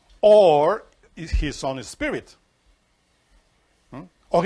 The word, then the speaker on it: Ur: abraham came from the city of ur better said or because when you read that in the bible in hebrew you find the letter alef fab resh that makes the word which means light correspondence of or so when you read